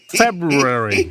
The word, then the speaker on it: February: of a Mr meoo when you include the r February it's the correct pronunciation